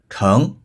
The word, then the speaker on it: 盛: 盛满、丰盛的意思。这时要读作盛，比如水